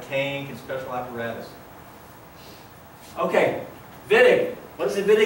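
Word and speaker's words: Wittig: Germans pronounce it Vinick.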